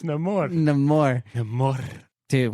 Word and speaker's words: Namor: I think you're saying his name wrong. No, it's no more.